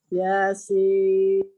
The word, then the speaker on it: Yasin: Yasin. Mana katanya 6. Ulang lagi. Yasin. Oke, Masya Allah. Udah bisa ya? Jadi, ya-nya 2, sin-nya 6 harokat.